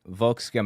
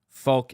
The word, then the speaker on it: Volk: these compound words with folk at the front I know it's not vul it's Folk anyway hearing those compound